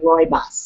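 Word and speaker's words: rooibos: category just like herbales so how do you spell that the rois it's r o o i b o s so Roos oh my God what a party in my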